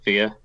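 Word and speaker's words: fíor: So if you're describing something as true, the translation of true is fear. Wow. FIOR, but it's pronounced identically to FEAR in English.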